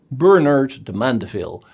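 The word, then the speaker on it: Bernard de Mandeville: book bernard de mondeville the name sounds a bit french but you should pronounce it the english way bernard the mandeville because he worked as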